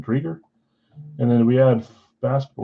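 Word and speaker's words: Driedger: Chris, I think you say Drieger. I think is how you pronounce it, Drieger.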